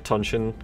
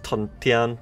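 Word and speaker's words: 屯田: I started out saying Tuntian conscription, and then in the last video, I fucking corrected myself to Tunshin, because that's the contemporary pronunciation. Like, if you look up how to pronounce Tunshin in Tuntian on, like, fucking YouTube videos or dictionaries, you'll hear Tunshin. But the actual proper Chinese is Tuntian.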